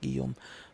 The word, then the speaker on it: Guillaume: on jump on uh he's saying something is pronounced I'm not sure what I was talking about that is pronounced Guillaume but thank you for